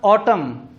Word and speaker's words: autumn: कर सकते हैं कि अगर इंग्लिश लैंग्वेज के किसी वर्ड के आखिर में M और N इकट्ठे आ जाए तो N साइलेंट हो जाता है। जिस तरह ऑटम मौसम का नाम है, AUTUMN, ऑटम। इसी तरह कंडेम, इसी तरह कॉलम।